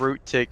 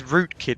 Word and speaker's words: Rootkit: on the side of root tick has yet to pick up a positive KD sorry it's root kit isn't it I've said it wrong twice now I've really